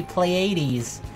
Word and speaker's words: Pleiades: The Pleiades. AIDS? It's not AIDS. It doesn't have AIDS. Oh fuck me. Pleiades.